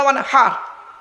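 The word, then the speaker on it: وانحر: ফাসাল্লি লিরাব্বিকা ওয়ানহার। কি বললাম? ফাসাল্লি লিরাব্বিকা ওয়ানহার। উচ্চারণটা ঠিক রাখুন। ওয়ানহার, ওয়ানহার নয়, ওয়ানহার। এই গলার ভেতর থেকে হে এটা উচ্চারণ করবেন।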